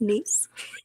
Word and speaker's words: Nice: Pronounced Nice.